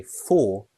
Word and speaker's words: for: The strong form is the full, proper pronunciation. So for has two pronunciations, the weak pronunciation, f, and the strong pronunciation, for.